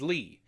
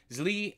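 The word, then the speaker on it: Zlee: of another boy names Lee I believe that's how you pronounce it it is z-l-e-e zli and Andre become very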